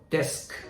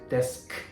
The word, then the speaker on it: desk: So desk, desk, stop like a k, k, k, k sound, not a ku, ku.